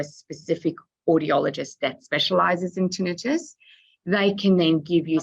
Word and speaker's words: tinnitus: And the final question from Bev, and I'll pronounce it correctly this time as tinnitus, not tinnitus.